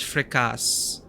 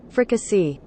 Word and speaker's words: fricassee: Now, how do you pronounce fricasse? Fricassee.